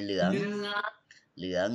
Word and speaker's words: เหลือง: เหลือง You pronounce หอหีบ and ลอลิง together. You put together. Yeah. We say เหลือง Yeah.